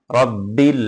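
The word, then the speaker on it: ربِّ: আইন খালা জবর আ রব্বিল আ এখানে রব্বিল হ্যাঁ বা ডবল হবে এখানে যদি পরপর দুটো বা লেখা হতো রব্বিল হ্যাঁ এভাবে পড়তে হতো র বা জবর রব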